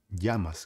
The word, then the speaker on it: llamas: Eu falo como se fosse o Y do Brasil, por exemplo. Quando você fala yakisoba, sabe yakisoba, né? Aquela comida japonesa, macarrão frito com legumes. Então, o fato é que se escreve com YA, yakisoba. Esse ya é muito parecido com esse EYA, ya. Por isso que eu falei llamas, como te llamas.